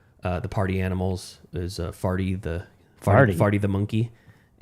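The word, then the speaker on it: Pharty: I got the I got one of their mascots was uh uh the party animals is Farty the Farty the monkey. And it's spelled P H A R T Y.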